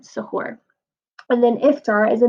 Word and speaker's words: suhoor: So suhoor, it was how you were supposed to say it. I said sarai, and that was wrong. Suhoor.